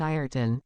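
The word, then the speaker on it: Ayrton: said the major cooly it is pronounced iron but it is written Ben Joyce xli the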